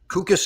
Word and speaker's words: Kukas: Kukas is correct pronunciation?